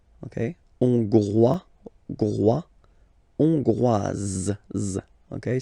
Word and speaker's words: hongroise: La Hongrie, hongrois, hongroise. Okay, hongrois, grois, hongroise. Okay, so here final S not pronounced for the masculine form, and then you pronounce it here for the feminine form.